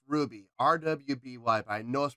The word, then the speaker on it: RWBY: here we go ruby i i know it's pronounced ruby rwby by noah's pronounced ruby uh red like roses parts one and two